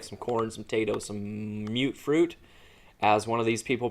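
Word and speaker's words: Mutfruit: I always called it mutt fruit. It's just how it looks like it should be pronounced, but it's mute fruit. Mutated fruit is what it stands for, I guess.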